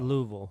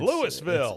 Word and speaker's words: Louisville: to make anybody mad louville it's Louisville Louisville you ever heard him pronounce it people I know like they call louville L it didn't even sound like it's supposed to be like a few syllables they just kind of make it Lou mm uh and Bobby